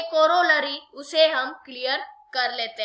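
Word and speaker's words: corollary: दिक्कत हो सकती है, आप कभी कोलोरली कह सकते हो, लेकिन आपको डिफाइन अच्छे से करना है, इसका जो प्रोनाउंसिएशन है उसे अच्छे से बोलना है, कोरोलरी, ठीक है।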